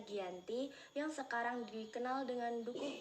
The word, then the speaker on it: Giyanti: penandatanganan perjanjian yaitu di desa Janti yang dalam pelafalan Belanda disebut sebagai ganti dan secara tertulis ia terbaca Giyanti yang sekarang dikenal dengan